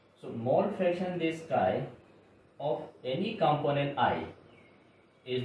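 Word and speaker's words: χ: Mole fraction, by this definition, this is defined as by this x pronounced as chi. So mole fraction, this chi of any component I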